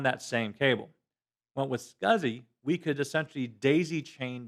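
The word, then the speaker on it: SCSI: me but but the way that it's normally pronounced is scuzzy okay is what you actually have now this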